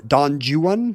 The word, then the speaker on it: Don Juan: the hyper-correct way, like every time Alex Trebek ever said Don Juan, because that's the correct way to say the Byron poem.